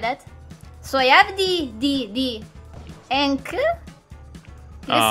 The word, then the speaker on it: ankh: Trying to get the Ankh. Ankh, yep. Ankh. Oh, that, I will never pronounce that right ever.